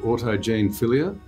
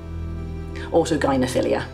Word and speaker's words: autogynephilia: There's a fascinating part of your book where you talk about a condition called I think it's pronounced autogenia. Autogyophilia.